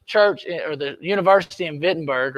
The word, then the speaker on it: Wittenberg: or the university in wittenberg or what we would say is wittenberg because we pronounce our w's a little different and he starts to